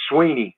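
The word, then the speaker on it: Swinney: And it's Sweeney as in just like E.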